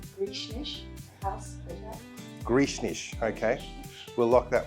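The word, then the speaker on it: Greshornish House: Uh so we've been pronouncing it Gres Hornish. Can you tell us how you really pronounce it? So it is pronounced Grecish House.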